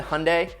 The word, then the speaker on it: Hyundai: to give it to hyundai which rhymes with sunday for what they did